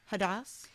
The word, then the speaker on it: Hadas: You were 37, came home to find that your mom, Hadas.